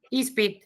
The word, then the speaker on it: ispit: ¿Alguna vez sospecharon que esa S en realidad era una Z? No, Porque viene de is más pit, la raíz de pitati. pítate. Te voy a hacer preguntas, Is pit. Se unieron esas dos palabritas y se formó el vocablo examen. De ahí que la Z se transformó en una S por influjo de una sorda.